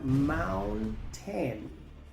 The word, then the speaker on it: mountain: La o se pronuncia a, la u se pronuncia normal, luego la n, luego la t, la a se pronuncia e, la i es muda, luego se pronuncia la n, así que se pronuncia mountain, palabra número cinco.